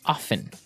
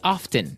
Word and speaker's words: often: people like to pronounce often right they kind of leave out the strong T sound while other people say often that's right both forms